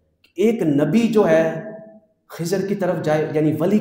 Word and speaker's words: خضر: خضر۔ اور لفظ بعض اوقات یہ بھی بولا جاتا ہے خضر، دونوں ہی صحیح ہیں تلفظ۔ تو لہٰذا یہ نام کس نے دیا؟